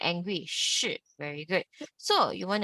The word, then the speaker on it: 是: Now, SHI is 吃，吃，吃。Let's repeat after me，吃，吃。Now, SHI with the fourth tone, how do you pronounce it? Remember, like angry, 是, very good.